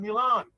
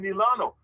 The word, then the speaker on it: Milano: I'm not in Milan. I'm in Milano.